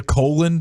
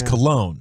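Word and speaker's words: Colón: This is a colon. It's a colon. This is like because it's Bartolo, what looks to be colon, but it's cologne. No. Spelled the same.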